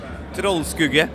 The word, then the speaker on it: Troldskugge: So I have the Wacken metal battle band from Norway here with me, and this is Troldskugge, is that correct? Troldskugge, yes. Okay, I guess I can pronounce it this way, but I tried.